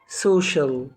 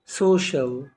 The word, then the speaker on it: social: تاني هنطق الكلمة تاني special. بعد كده كلمة اجتماعي social، social.